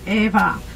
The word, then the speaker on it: Eva: My name is Eva or Eva, whatever better for you. We pronounce the name here Eva.